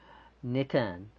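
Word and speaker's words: נתן: Netan, alright, like Nathan.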